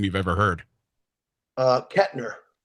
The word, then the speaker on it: Koechner: Koechner. There's no T.